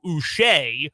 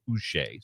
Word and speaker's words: Uche: I felt bad to find out that it's now Uche. Which, Yeah, I'm glad to know, but the Patriots media resources had a clip of him pronouncing his name, and his preference is Joshua Uche.